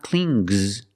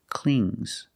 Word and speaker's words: cling: clings clings it's a soft G not clings but clings example the baby the